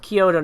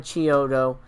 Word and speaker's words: Chiodo: Kyoto, and it's pronounced Kyoto, not Chiodo. According to them.